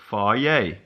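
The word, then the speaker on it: Fage: Pronounced Faye. It's Greek.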